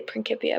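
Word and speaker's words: Principia: be an ass and say prinkipia Mathematica because in Latin In classical Latin it was a hard C actually in classical Latin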